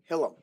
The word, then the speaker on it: Hillam: And it's Hillam? Yes. Hillam. Yes. So kind of like Willem. Yeah, it's Hillam.